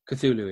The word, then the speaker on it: Cthulhu: this because you like lovecraft so yeah cthulhu cthulhu yeah that's how you pronounce it from the album from the album the future is void from 2014.